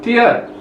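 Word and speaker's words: 티읕: Yang ke-12 ini namanya tiat.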